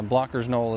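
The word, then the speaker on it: Blocher's Knoll: Uh Blocker's Knoll is how it's supposed to be said, not Blotcher's Knoll.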